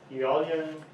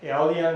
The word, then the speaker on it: Aeolian: put this Aeolian, and Aeolian is the same thing. This is kind of a Latin kind of spelling coming, so they use this AE, which is pronounced as E, and some people in